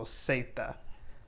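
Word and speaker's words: zeta: english like zebra because you're always going to have it or say it with an s sound so seita so you wouldn't say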